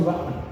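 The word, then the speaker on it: Rahman: I was saying you were so down before, but you had 2 fights for Ratman. Is it how Ryan? Yeah. How do you pronounce it? Ratman.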